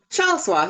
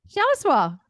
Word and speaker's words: Shaliswa: Tell me exactly how to say it because I hate not saying them right. Oh, Shaliswa. You said it right. Shaliswa.